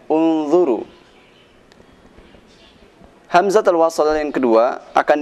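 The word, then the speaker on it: انْظُرُوا: Unzuru ila sama, huruf ketiganya adalah huruf dha. Dha dibaca dhammah, maka u dibacanya unzuru.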